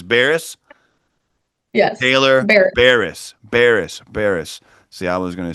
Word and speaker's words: Baires: Baires.